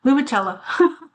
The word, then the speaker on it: Lumicela: If we're pronouncing this the Italian way, it's limoncello. Oh, my bad. Lumicella.